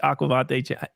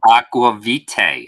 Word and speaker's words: Aqvavitae: sent to you today have you ever heard of the aquavada Chris how do you say it am I saying it wrong Aqua Vitae Aqua Vitae challenge has anybody heard